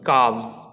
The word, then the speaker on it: calves: It will become calves. Okay, L silent है यहाँ, सो it will become calves.